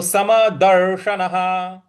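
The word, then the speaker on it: समदर्शनः: है तो सम दर्शन दर्शन बड़ा वाला श है तो इसमें जीभ को थोड़ा सा रोल करके बोलेंगे दर्शन और न के बाद जो विसर्ग है उसके आगे कुछ नहीं है इसलिए उसका ह उच्चारण करेंगे तो सम दर्शन तो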